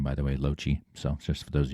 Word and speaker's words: Lochte: That's how you pronounce my name, by the way, Lochte.